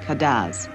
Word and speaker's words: Cadence: the islands French pwa the music is spelled Cadence and called kadz Dominica lies between the